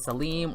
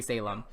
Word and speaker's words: Salim: a cutie him and Salim or Salem however you want to say his name I personally say Salem so that's it looks